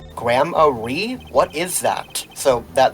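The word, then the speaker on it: Gramarye: It's pronounced like Grammarly without the L. So the reason we've been pronouncing it grammar is because earlier in the game Apollo says gramari.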